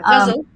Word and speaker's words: ghazal: Yeah, ghazal.